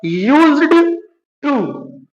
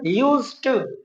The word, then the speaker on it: used to: है यूज टू देखिए ये लिखा है यूज्ड टू बट इसको बोलना है यूज टू यूज टू D silent कर देना है यूज टू ओके तो